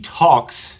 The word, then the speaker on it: talk: you hear an l do you hear an l I talk I talk there is no l in the pronunciation that would be talk talk no we don't